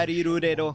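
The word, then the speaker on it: La-Li-Lu-Le-Lo: Por eso se llaman The Lalilulelo. hostages are being held Porque in si lo P1 pronuncias en japonés core. sería In Shadow Rarirurero.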